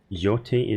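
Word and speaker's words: Yōtei: Am I pronouncing it correctly? Dart Yote.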